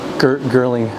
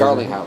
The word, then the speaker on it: Garlinghouse: Gerling, I always forget how to say it. Garlinghouse.